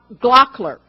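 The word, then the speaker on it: Gloeckler: numbered print by Wisconsin night artist Ray Glock glockler David tells me that's how to pronounce it David Ward told me how to pronounce it Ray glockler recently recognized as one of the world's leading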